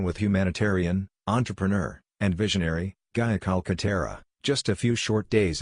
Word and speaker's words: Gaia Calcaterra: Ladies and gentlemen, please join me in welcoming Gaia Calcaterra. Did I pronounce that right, Gaia?